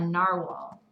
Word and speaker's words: narwhal: it may have actually been made from a narwhal. Narwhal, that's how you pronounce it.